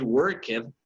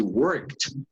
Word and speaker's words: worked: You don't say work it, you say worked. You don't say love it, you say loved.